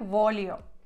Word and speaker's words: voglio: Так, тут до уваги вас, що гли читається як л в італійській мові. Тому слово voglio читається як voglio.